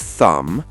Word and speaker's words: thumb: If you see mb at the end of a word, the b is silent.